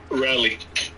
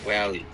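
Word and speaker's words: Raleigh: region area but uh b r a l e i g h uh so yeah pick how you pronounce it rally R rally okay um so you're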